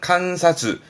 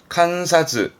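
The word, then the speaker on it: 観察: 발음은 칸사즈, 칸사즈.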